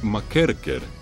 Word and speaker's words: McKercher: En aquel lugar trabajaba un entrenador llamado Tommy McKercher, o como lo pronuncian los escoceses, Tommy McKerker.